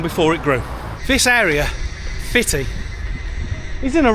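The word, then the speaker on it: Footdee: But apparently, the local Scots call it Fitty.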